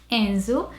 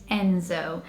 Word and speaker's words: Enzo: So Brazilians would say it Enzo, and in the UK you'd probably say it Enzo. So again, that O sound is slightly different. Enzo and Enzo.